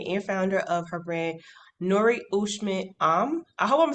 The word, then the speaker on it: Noore Cheshmam: She is the owner, designer, and founder of her brand, Noore Cheshmam.